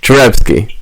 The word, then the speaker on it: Cherepsky: You pronounce his name? Cherepsky. Cherepski. Cherepsky. That is correct.